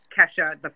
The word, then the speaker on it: Kesha: So, I'm actually surprised when people pronounce it Kesha on the first try.